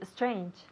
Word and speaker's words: strange: Lo mejor de lo que acabas de decir ha sido tu pronunciación de la palabra strange. Porque casi el 99% de tus compatriotas dirían strange. O sea que espero que no lo estéis diciendo en casa. Strange. Empezando con esta S tan fuerte.